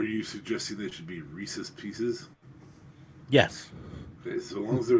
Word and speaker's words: Reese's Pieces: a guy named Reese they are Reese's Pieces and it's that way because it rhymes yes you gotta go